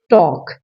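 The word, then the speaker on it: talk: फिर हमारा वर्ड है टॉक। TAL के टाल्क नहीं होता, इसमें एल साइलेंट है।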